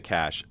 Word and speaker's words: cache: the cache and when i say clear the cache it's spelled c-a-c-h-e and often times when you have